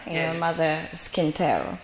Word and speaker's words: Quintero: Thank you for having introduced me in the correct way, because usually the Ghanaians, when they pronounce my name, they say Quintero, and I keep saying no, please, it's Quintero.